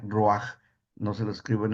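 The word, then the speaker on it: רוח: Así se pronuncia roaj.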